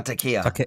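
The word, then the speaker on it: taqiyya: It's their own version of this, like Takaya or Takaya. How do you say that? The Islamic... Oh, Takia. Yeah. Takia.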